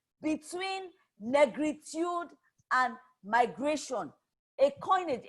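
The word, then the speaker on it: Négritude: na greet ood that the French pronunciation Negritude is the identity or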